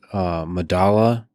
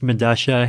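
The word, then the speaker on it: Medellín: I believe it's pronounced Medasha. It's a South American subway station. I forget where. But spelled with two L's. Yeah, because that's how Spanish works, right? Like the two L's have.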